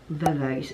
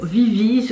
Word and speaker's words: VIVIZ: Comme vous le savez, hier, le trio Vavais, oui je vais le dire Vavais alors que je sais qu'on ne prononce pas comme ça.